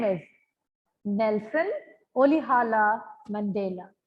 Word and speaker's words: Rolihlahla: Nelson Olihala Mandela. The R is pronounced very softly here. So it's Olihala Mandela, right?